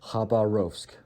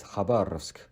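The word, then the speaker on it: Хабаровск: In English, Khabarovsk. Khabarovsk. But the right pronunciation of this word in Russian is Khabarovsk.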